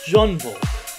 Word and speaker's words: Jungvolk: That's actually the German pronunciation. Jungvolk. I was trying to pronounce it like Jungvolk. No, just Jungvolk. Wow. So, what did we learn today? Jungvolk. This translates to young people. And it's just pronounced Jungvolk.